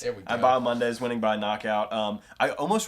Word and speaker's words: Bahamondes: Oh, yeah, it's Christos Giagos versus Ignacio Bahamondes. The H is silent. Bahamondes. It's Bahamondes, Okay. not Bahamondes. It's Bahamondes.